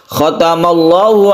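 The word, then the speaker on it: خَتَمَ اللَّهُ: Membacanya kalau sebelumnya fathah maka dibaca tebal atau tafkhim ya. Khatamallah, khatamallah, tafkhim. Ini lafaz Allah yang dibaca tafkhim.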